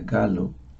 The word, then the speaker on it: Gallo: en Guatemala un italiano se escribe gallo pero se pronuncia galo nos decía y quién